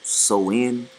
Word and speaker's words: Samhain: Um, it said Halloween original dates back to the ancient Celtic festival or Samhain, pronounced Soin.